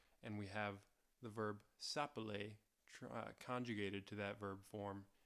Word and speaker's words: s'appeler: of the verb S'appeler We see that single "L" which is why it's pronounced S'appeler That single "L" does